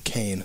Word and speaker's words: Caine: own man Michael KITT Michael Caine that's his name Kane okay not my cocaine it's like okay don't